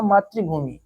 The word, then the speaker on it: मातृभूमि: ठीक, इसमें भी क्रम में भी रा है, लेकिन मातृ ये जो है ये ऋषि वाला है। ठीक, इसकी उच्चारण क्या होगा, मातृभूमि। ठीक, मातृभूमि। ठीक है, तो ये वाला जो है इसमें रा व्यंजन नहीं है।